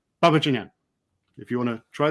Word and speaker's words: Babadzhanian: So if you say the word Babbage, as in Charles Babbage, the computer pioneer, and then onion, as in the vegetable, quickly together. So Babajanyan, Babajanyan, Babajanyan.